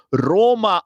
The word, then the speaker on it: Rome: Roma o rom, rome, scritto rome, ma si pronuncia rom.